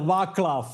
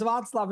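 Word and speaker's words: Václav: We had we had really funny encounters because I tried to uh to train the AI that she pronounced my name correctly and it was all very well Vaklav and then again I like no it's Vatlav it's Vaklav and once time I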